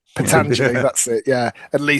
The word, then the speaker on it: Pentangeli: So De Niro, who won it, and then Michael Gazzo, who played Pentag. He did a much better pronunciation. Pentangeli, that's it.